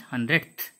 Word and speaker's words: hundredth: See the pronunciation? That th should be there at the end.